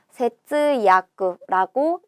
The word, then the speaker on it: 節約: 마디절에 맺을 약자를 써서 세츠야쿠라고 읽습니다.